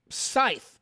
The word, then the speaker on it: scythe: bow the staff the sickle the the the Scythe I mean how do you pronounce s-c-y-th Scythe right yeah um all these